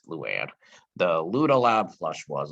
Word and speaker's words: Luan: The Luda, he got the name wrong. It's Luann.